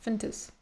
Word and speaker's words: Fuentes: Nick Fentes not only I want to pronounce it Fuentes, but he says Fentes. He like barely pronounces all the vowels. He just goes fentis.